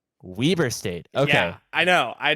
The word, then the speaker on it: Weber State: their series I got a note apparently it's pronounced Weber Weber State okay yeah I know I did not expect